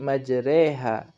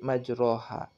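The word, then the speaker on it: مجراها: lafal pada lafal majroha yaitu dibaca menjadi majereha tidak boleh dibaca menjadi majroha Kenapa karena harus memiringkan fathah pada huruf ra ke arah kasroh yang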